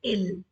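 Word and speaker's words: ils: are playing plural now plural of eel is ill as I told you we never pronounce last consonant so it is only ill plural is ill plural of Alice and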